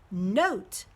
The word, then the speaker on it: note: let's add the e the first vowel o becomes a long oh so it's gonna say o the second vowel e is silent so we have n long ot hmm Oh note like a musical note